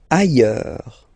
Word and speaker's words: ailleurs: Ailleurs. Look, final S not pronounced, and then you've got this y sound.